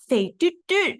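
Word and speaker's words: 肥嘟嘟: I said fei du du, and he went fei du du, and I'm like, no.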